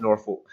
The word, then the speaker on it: Norfolk: Monkey Show Global Extravaganza, Swansea to Wolverhampton to Norfolk. Norfolk. Sorry, Reefy. Norfolk. You ever hear him pronounce it?